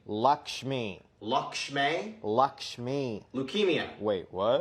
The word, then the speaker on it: Lakshmi: annual chore Happy Diwali I brought you a lamb lock shimmy Lakshmi Lakshmi Lakshmi leukemia wait what when's deepavali is